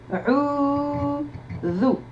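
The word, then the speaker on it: أعوذ: Combien de syllabes a-t-on? A'udhu. La deuxième syllabe sera prolongée. Donc on y va. C'est la lettre Alif avec la Hamza et la Fatha. C'est la lettre Ain avec le Damma, sauf que j'ai prolongé le son, donc on va prolonger avec la lettre Waw.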